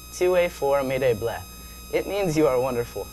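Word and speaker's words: tu es formidable: It's pronounced TUE FORMIDABLE.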